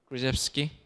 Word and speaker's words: Krzyzewski: So Coach Mike Krzyzewski, how do you pronounce? Right here. Krzyzewski.